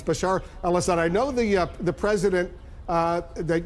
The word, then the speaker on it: Bashar al-Assad: Bashar al-Assad, I know you've mispronounced his name a few times, but it's Bashar al-Assad.